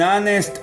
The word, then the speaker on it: honest: Derek is an honest boy.